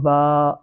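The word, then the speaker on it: ب: তারপরে অক্ষরটি হলো বা। এ অক্ষরটি পড়ার সময় এক আলিফ টান দিয়ে পড়তে হবে।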